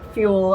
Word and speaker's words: Feuell: a few times and I remembered how to pronounce her last name by thinking of fuel and the new modern way to fuel a car which is with electricity